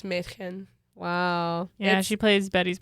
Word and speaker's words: Mädchen: From Twin Peaks, Machin Amick. I always say her name wrong. I'm so sorry. That was absolutely. Her name freaking Mädchen, freaking girl. Yes. In German. Yeah, Mädchen? it's Mädchen.